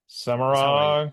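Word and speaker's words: Semirhage: I have to believe supposedly they said how do you pronounce it? Samage. Samurro. Samurro is how they say in the audio books anyway.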